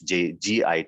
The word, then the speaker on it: git: might say uh they might pronunciate this also as jit because it's git not jit so we have to